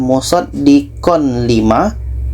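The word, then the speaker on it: مُصَدِّقًا لِّمَا: Jadi bunyi tanwin kita masukkan ke la. Yang asal bacanya adalah musaddiq lima. Musaddiq lima, nah tanwin kita masukkan ke lam. Musaddiq lima. Tidak ada dengung.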